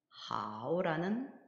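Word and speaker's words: 好: 역시 성모는 한글의 자음에 해당하는 성모와 한글의 모음에 해당하는 운모가 결합을 해서 하오라는 한어 병음 자모를 형성을 했고요. 거기 위에 성조부호가 삼성 성조부호가 표기되어 있음으로써 삼성으로 발음을 하게 되면 하오 이렇게 발음을 하면 되겠습니다.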